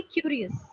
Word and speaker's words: curious: And lastly, a place where you pronounced Uh, you mispronounced curious. I think you said something curious or something like that. It's supposed to be curious.